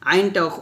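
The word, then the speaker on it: عين: করব হা এইভাবে তো আমি আবারো বলি কণ্ঠনালীর মধ্যখান হতে আইন এবং হাট উচ্চারণ করতে হয় আইনটা অবশ্যই চাপ দিবেন আইন আইন হাবে তারপর দেখুন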